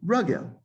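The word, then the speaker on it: רגל: It's like, how do you say, and it's at the sof pasuk, regel? You'd say ragel, nefesh, nafesh, right?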